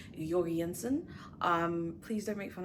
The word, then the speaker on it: Jensen: um I believe it's not actually pronounced George Jensen it's something more along the lines of yansen um please don't make